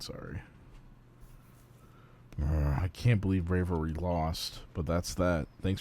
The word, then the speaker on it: Braviary: Brav- Have I been pronouncing this thing wrong? I could have sworn it was Brave- I think it's Braviary. That's what it's That's what it is.